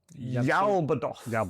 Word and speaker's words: Yaoth: I am going to be playing today the Scions of Yaoth. Ya. Yaoth, I think I think that's how you pronounce it.